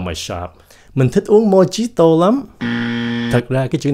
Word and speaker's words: Mojito: Mojito. Mình có nghe nhiều người phát âm là mojito nữa, mà đa số là mojito.